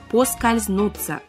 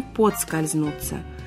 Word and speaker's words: поскользнуться: я Мария свешникова здравствуйте подскользнуться или по скользнуться правильный вариант по скользнуться без D хотя часто мы говорим подскользнуться значение слова поскользнуться потерять